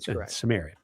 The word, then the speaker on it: Cimmerian: And as far as we know Howard did pronounce it with the soft C and Cimmerian Cimmerian.